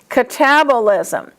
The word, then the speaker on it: catabolism: So, following that rule, anabolism, catabolism.